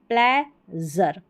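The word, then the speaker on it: pleasure: यहाँ पर देखिए, एक तो ज़र पढ़ेंगे इसको, ठीक है, ज़र पढ़ेंगे, और दूसरा शर पढ़ेंगे, दो है इसके उच्चारण। देखिए ये है यहाँ पर में ज़र, ठीक है, ये है प्लेज़र, ठीक है, ट्रेज़र। और यहाँ पर प्रेज़र नहीं है, प्रेशर है, इसमें शर पढ़ा है, ठीक है।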